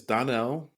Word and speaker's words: Donnell: um my name is Donell uh just that I white black folks pronounce it differently than white folks um but it's donel and I I'm in